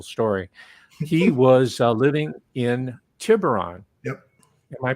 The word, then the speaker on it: Tiburon: that's the official story he was living in tiburon yep am i pronouncing it correctly tibrine means shark yeah he was living in tiburon and that's his home he went to redwood